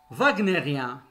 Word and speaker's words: wagnérien: w se prononce ou commençons par le w qui se prononce v exemple wagnérien wagnérien ça veut dire tout